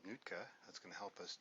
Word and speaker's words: Nuitka: Heard him say Nuitka is the way to pronounce that on a video, so I'm assuming I'm pronouncing it right.